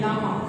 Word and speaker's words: llama: exception there, camel and llama. Yes, you search the name ILAMA. Actually, I is silent there.